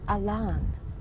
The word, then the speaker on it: Allan: one who came down his name was spelled Allan pronounced Elan he got a LAN